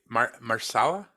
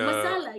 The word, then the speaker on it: masala: day no like um I always pronounce it incorrectly marcala is it the Masala yes Masala marala marala turmeric ginger chili